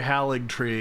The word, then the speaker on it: Haligtree: Where did I hear Haligtree? Oh, search the memory. I said Haligtree, and then I was like, did I pronounce this right? And Matreus was like, yeah, you did.